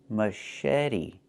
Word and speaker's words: machete: Pronunciation, machete, machete. The CH makes a soft sh sound, like in fish, mush. And then eddy. The T makes a fast D, machete.